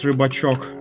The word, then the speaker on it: Rybachok: No, it pronounces Rybachok. I don't know the Russian pronunciation for Nandas, so... Now you know. It's now Rybachok. And knowing is half the battle. It's like you have Fisher, it's Rybak. And a small Fisher, Rybak, Rybachok. Rybak, yeah, it's the same in Polish.